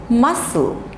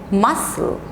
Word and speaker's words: muscle: next letter is c c is generally silent when it comes with a combination of sc okay like this sc